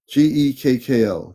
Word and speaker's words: Gekko: His name is Gekko. Godico. Gekko for people. Gekko, just to give you the right pronunciation.